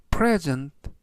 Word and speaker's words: present: 되겠습니다 이번 단어는 present present present라고 발음하시면 되겠고요 이때 강세는 앞부분에 있는 알파벳 2의 강세가 있고요 그리고 뒤에 있는 2에 강세를 붙이면 present 동사가 돼서 present 라는 뜻이 되겠습니다